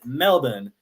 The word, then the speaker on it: Melbourne: It looks like Melbourne to us, but if you're in Australia, they will pronounce it Melbourne because that's just how they talk, obviously.